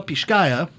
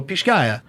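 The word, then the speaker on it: Pixcaya: guatemala the particular uh let's see if i can say this right it's from uh pisgah guatemala pishkaya uh i don't know how would you say it people it's spelled p-i-x-c-a-y-a so pish-gaya i also have to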